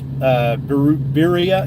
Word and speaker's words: birria: Birria, is it Birria? Does it rhyme with diarrhea?